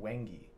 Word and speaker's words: wenge: favorite wood um it's a wood called wengie it's it's spelled very weird um isn't this wenge or is this one